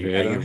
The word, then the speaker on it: Ayurveda: Am I pronouncing? Oh, yeah, Ayurveda.